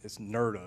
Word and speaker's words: NRDA: When we originally applied for this, it was a $60,000 grant, and there's a program out there called NRDA, and it's NERDA is what they call it.